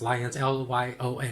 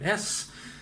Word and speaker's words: Lyons: I think it's pronounced Lyons, Lyons, because if you are French, I guess you would pronounce it Lyon, but I think since it's American, it's the Lyons Electronic Office.